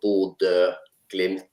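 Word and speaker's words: Bodø/Glimt: Bod, not Bodo. It ble Ba glimpse. Yeah, it's the Norwegian. Uh it's hard for foreigners to say. So B glimp.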